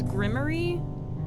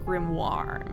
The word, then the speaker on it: grimoire: the Grim okay so I always thought it was grimy but I think that's maybe because I watched a media some sort of media that like pronounced it that way like as a joke I think it's actually pronounced grimoire my age is 25